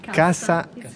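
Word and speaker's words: касса: Cassa italiano. Ok. Ma in russo cassa si dice, cioè si scrive cacca, qua si pronuncia cassa.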